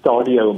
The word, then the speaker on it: Stadio: Yes, it's Stadio Multiversity.